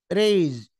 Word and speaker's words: raise: للحصول نحفظ الكلمات المهمه ريز ريز ريز ريز ريز ريز تنطق زد بين حرفين متحركين والحروف المتحركه اي اي اي ري زرب ري زرب